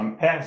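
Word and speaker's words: Ampère's: So Ampere's law actually the accent is on the other side, to be precise.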